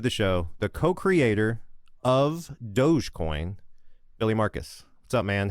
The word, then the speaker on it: Dogecoin: And good on you for calling it Dogecoin and not Doggycoin or something like that.